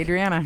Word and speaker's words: Adriana: Adriana. Every time. Because I want to pronounce A as an ah sound.